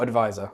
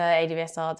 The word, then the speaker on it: ADVSR: Do you say it like that, or advisor? Advisor, ADVSR, depends what we're doing.